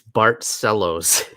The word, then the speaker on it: Barcelos: Dude, tough night for Barcelos. I thought he had it. Mark Fellows says it's Barcelos, his Brazilian cousin.